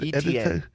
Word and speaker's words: Etienne: Etienne.